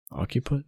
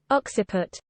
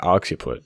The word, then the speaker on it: occiput: hit in the occupant occupant is that how you pronounce it occiput oh okay oxy put the occiput is the